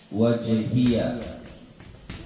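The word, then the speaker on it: وجهي: Yang kedua, kita muat pada kita coba ya, wajjahtu wajhiya. Ini cara baca wajhiya ada dua. Satu wajhi, wajjahtu wajhi. Ianya tidak dibarisi.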